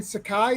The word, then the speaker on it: Sakai: Uh because he handlets Stan Sakai. Is that how you say your last name? Right. Yes. Yeah. Yeah. I said it right. Sans Sakai.